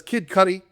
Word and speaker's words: Kid Cudi: It says Kid Cudi.